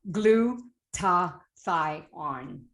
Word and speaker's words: glutathione: needs to survive is glutathione and if you don't know how to pronounce it it's quite simple glue to thigh on i used to say